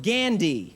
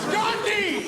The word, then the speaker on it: Gandhi: big fan of the film gandi it is Gandhi gandi you're a huge a-hole